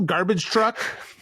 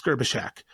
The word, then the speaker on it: Gerbyshak: The last thing you want is that Phil garbage truck? No, it's not. It's Gerbyshak.